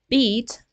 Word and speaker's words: beat: words like bit and beat right the first one has a short uh vowel bit and the second one has a long sound beat right so if we